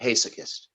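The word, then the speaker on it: Hesychasts: It's like Hezekiah with IST on the end of it, Hezekiast. They are literally where we get the term navel gazing from, okay?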